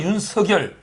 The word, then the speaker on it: 윤석열: 원래 발음은 윤석열. 윤석열. 석열로 해라 그러고 저는 윤석열 이렇게 발음하는데 근데 그 오타도 났는데